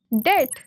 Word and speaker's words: debt: Some letters appear in spellings but are not pronounced. For example, debt, silent B.